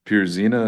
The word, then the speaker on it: Pierzina: Yeah, Tim Maves and Jane Pierzina, is that how you pronounce her last name?